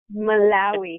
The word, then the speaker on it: Malawi: How do you pronounce that? Malawi. Malawi.